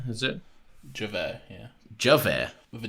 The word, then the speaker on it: Javert: Well, it's French. Javert. Is this like one of them jalapeno situations? No. It's a J. That's just the way the French pronounce J's.